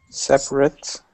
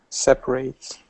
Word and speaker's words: separate: just to remind you if you have words with the same spelling but it's changing parts of speech from adjective to verb it does change the